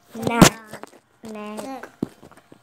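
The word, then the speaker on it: knee: Tooth, tooth यानी दांत, नेक, दांत बोलो, shoulder, shoulder, chest, chest, chest, stomach, stomach, are, आर, और आखिर में हैंड, आखिर में hand, finger, finger, nails, nails, leg, लेग, नी, नी, की साइलेंट रहेगा।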